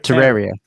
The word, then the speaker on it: Terraria: Terri Terraria. Terraria. Terraria. Terraria. Like a terrarium.